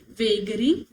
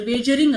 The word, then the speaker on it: wagering: हम क्या बोलते हैं, वेगरिंग अग्रीमेंट, और सॉरी वेजरिंग अग्रीमेंट बोलते हैं, तो प्रोनाउंसिएशन बड़ा बेकार है इसका, ठीक है।